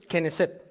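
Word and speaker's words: Knesset: Y en hebreo moderno, de allí salió la palabra Keneset, que significa parlamento. ¿Cómo se dice parlamento en hebreo? Hebrew Keneset.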